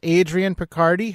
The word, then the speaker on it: Adrian Picardi: to fascination street podcast Adrian Picardie how you doing Adrian and am I saying your name right you are saying my name correctly yeah thank you so